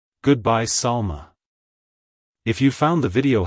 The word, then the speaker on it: Salma: transition to the sound keep the emphasis light on the a at the end like hello Salma goodbye Salma if you found the